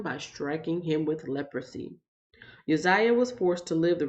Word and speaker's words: Uzziah: pronounce a name but now I'm not gonna mispronounce it as I'm reading it along so that's Uzziah um I used to do that when I